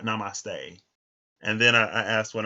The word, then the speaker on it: namaste: He was like, they say namaste, like it's namaste, it's not namaste.